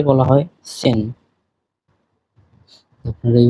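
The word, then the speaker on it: zehn: 9 কে বলা হয় নয়েন এবং 10 কে বলা হয় সেন। আপনারা এই উচ্চারণগুলি সহ দেখবেন।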